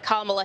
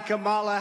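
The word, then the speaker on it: Kamala Harris: the bulk of his speech on vice president kamla Harris at times mispronouncing her name take a listen for three and a half years lion Camala Harris has been the ultra liberal driving force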